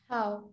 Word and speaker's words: how: Pay close attention to the pronunciation of this one because some students say ho, and that is something bad in English. We don't say ho, we say how, like the cow.